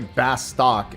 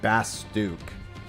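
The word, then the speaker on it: Bastok: Yeah, apparently Bastock is Bastook, as an example. According to... I think they said that at a fan fest, didn't they? They called it Bastook.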